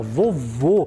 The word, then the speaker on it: vovô: a palavra mu vou olha só vovô ele é um som mais fechado ele é um timbre mais fechado então é o significado